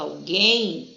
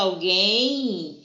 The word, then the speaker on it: alguém: E aqui, ó, no G, o U, quando a gente fala alguém, ele não tem som.